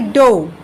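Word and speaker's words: dough: এরপর হয়ে যাচ্ছে হচ্ছে কি ডো, ড ও ডো, ডো। তো দেখো প্রত্যেকটা শব্দের কিন্তু উচ্চারণটা একেবারে আলাদা আলাদা, যদিও কি আছে আমাদের প্রত্যেকটার উচ্চারণগত একটা বানানগত একটা মিল রয়েছে।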